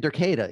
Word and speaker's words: Derketa: See, I couldn't even think of Derketa, you know?